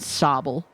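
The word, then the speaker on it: Sobble: Honestly, it's very close between Squirtle and Sabble because Sabel is just so baby. When that Pokémon came out, I was like obsessed with it. Plus, it rhymes with Bobble, so you know.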